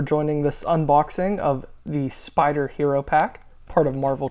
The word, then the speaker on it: SP//DR: let's dive into the spider hero pack um I know when I see this my mind automatically says spdr as the name of the hero but um I always hear pronounced spider which makes complet complete